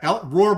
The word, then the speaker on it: Rohr: Yeah, Roar, by the way, is spelled Rohr.